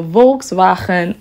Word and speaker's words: Volkswagen: me just tell you it's a volksvagen ID3 I'm pronouncing it the Dutch way you guys know that